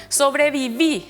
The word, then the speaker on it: sobreviví: en e lleva tilde sobreviví se recarga la voz en la última sílaba es aguda lleva tilde